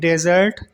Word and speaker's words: dessert: DESERT डेजर्ट, इसका मतलब है रेगिस्तान, सैंडी एरिया।